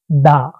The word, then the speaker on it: the: পরবর্তী উদাহরণটা দেখেন দা ডগ, এখানে ডগ শব্দটার প্রথম অক্ষরটা কনসোনেন্ট ডি দিয়ে শুরু হয়েছে, যে কারণে এই ডির উচ্চারণ হবে হলো দা, দা ডগ। এবং শেষের উদাহরণটা দেখেন, এখানে হলো দি অ্যান্ড, এই অ্যান্ড শব্দটার প্রথম অক্ষরটা এ আছে, যে কারণে এই দির উচ্চারণ হবে হলো দি, এখানে দা হবে না।